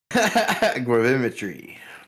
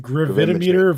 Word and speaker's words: gravimetry: Gravimetry. Gravimetry. What's wrong with gravimeter versus gravimetry?